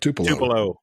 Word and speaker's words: Tupelo: It's spelled Murry, and he's from. Do you say Tupelo or Tupelo? Yep, Tupelo.